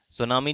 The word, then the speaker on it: सुनामी: सुनामी जो शब्द है टी एस यू एन ए एम आई जिसमें टी साइलेंट होता है।